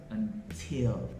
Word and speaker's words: until: It is also pop T when the T is in the beginning of a stressed syllable in a word. For example, we have until.